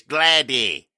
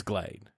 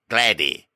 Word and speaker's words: Glady: just dropping blade correction it's not it's glady it's spelled the same as glade but it's i said